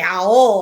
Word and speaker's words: aho: spirit guides was like, you don't say it that way. You say aho.